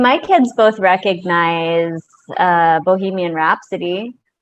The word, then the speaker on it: Bohemian Rhapsody: of this song right can you repeat that for me to try bohemian rhapsody bohemian rap rap oh my gosh reps rep sodium rhapsody yeah rhapsody oh my gosh i used to pronounce that bohemia rhapsody yeah i don't even